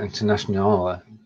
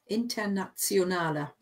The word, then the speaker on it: Internationaler: Yeah, and then the temptation is to pronounce that Internationale, but it doesn't work that way. No, that's again, the German one. Internationale Frauentag. It's like there's a Z after the T. Internationale.